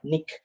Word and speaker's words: niche: you talk about nick it's not called niche but nick the pronunciation is nick so we talk about